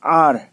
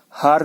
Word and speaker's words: hour: अब घंटे को क्या बोलते हैं, 1 घंटा 2 घंटा, HOUR, आर, एच साइलेंट है, हार नहीं बोलते हैं, आर, HOUR, आर।